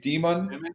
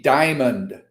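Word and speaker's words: Dimon: point because Jamie uh how did you pronounce his name demon demon demon call I always hear PE people call them Jamie Diamond it's not Jamie Diamond right but anyway uh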